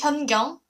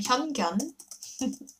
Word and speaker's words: Hyun-gyeong: My name is Hyun-gyeong, and Hyun has final consonant N sound. Kyung has NG sound at the end, and it's kind of hard thing to pronounce for foreign friends. Some of foreign friends, so they pronounce my name Hyun-gyeong, which means brilliant dog or like clever dog.